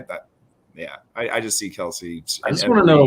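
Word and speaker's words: Kelce: the argument comes between travis kelsey or actually it's we've been saying it wrong this whole time guys travis kels and uh george kittle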